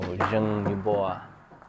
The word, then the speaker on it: Zheng Yubo: So Zheng Yubo, that's the pronunciation of his name, and Chu Bingjie.